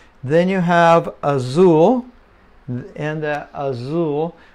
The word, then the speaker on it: Azul: you have Azul and Azul the Z almost like Zoo Azul and then uh that's